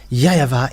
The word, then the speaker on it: YAHVAH: The W for them, they pronounce it as V or B. It must be either of them. So here it is really seen, the W is really V, but it's the Western who changed it into Wu. But in Eastern countries, it's the W, they really pronounce it as V, not Wu.